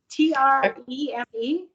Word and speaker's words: Treme: little scene what have you seen the series Treme do you know what I'm talking about t-r-e-m-e yes write it down because it's felt dream but pronounced Treme spell it again t r e